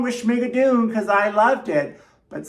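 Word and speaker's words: Schmigadoon!: The first show I saw when I got to New York was Schmigadoon, which you have to say it like that because there's an exclamation mark.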